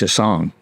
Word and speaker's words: Chaisson: said oh I said there's a lot of chasons and it's pronounced a song uh in French Canada in and in Louisiana and they said what's